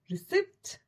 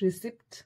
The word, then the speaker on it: receipt: Receipt. No, it's not receipt, it's receipt.